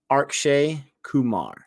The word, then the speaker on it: Akshay Kumar: feel like I'm always saying it wrong it's Akshay Kumar and RJD Kumar is super big stuff he